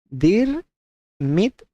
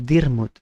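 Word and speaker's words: Diarmuid: It's an Irish name, so it's impossible to decipher how to pronounce this, is typically pronounced dir mit or dirmut.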